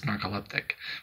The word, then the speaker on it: narcoleptic: not real uptick so I can't even say it right it's narcoleptic put the emphasis on the right syllable but I've really enjoyed